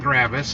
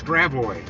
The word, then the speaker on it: Gravois: Chitto it's Shoto though it's not gravis it's Gravois no it's not Gravois